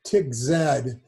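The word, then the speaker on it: TikZ: I would call it TIGZ because when you're typing these things in, you want to type in begin TIGZ picture. And if you pronounce it that way, you'll remember how it's spelled.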